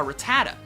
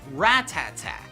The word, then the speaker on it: Rattata: as a kid a lot of you probably pronounce it a rattata when in reality it's actually pronounced rat-tat-tat funny right well it gets kind of funnier